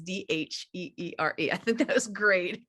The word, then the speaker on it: Dheere: the H is silent, but I'm not, because his last name is Dheere.